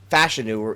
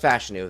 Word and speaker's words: Fashanu: Prospect fatigue are uh Olu fashanu fashu it's actually pronounced fashanu that came out this